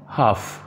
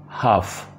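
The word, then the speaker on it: half: हाफ, इसमें भी L silent है, आधा। हाफ आधा।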